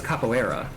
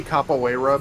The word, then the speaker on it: capoeira: that's pronounced a couple capoeira capoeira yeah I always thought it was capillera or something similar more similar to that but it's technically cap away rub because it's Brazilian it's Portuguese you call that a